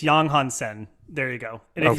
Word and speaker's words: Yang Hansen: It's Yang Hansen. That's how you should pronounce it. It's not Yang Hansen. It's Yang Hansen.